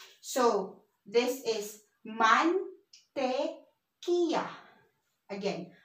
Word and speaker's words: mantequilla: And remember in our abecedario, if it's the double L, it's pronounced as Y. So this is mantequilla. Again, mantequilla.